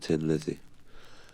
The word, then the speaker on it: Thin Lizzy: just switched it around added in the H because we were Irish and it would pronounce Tin Tin that's what I